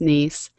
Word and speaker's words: Nice: called the nice model it's spelled like the word nice but it's pronounced like the city in France nice and and this model